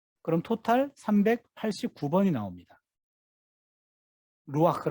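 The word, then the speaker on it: רוח: 루와 정확히 바라는 루아 아크가 되요 여기 으 루아흐 해놓고 여기에 꽉 막혀 쪄요 이 막히면 은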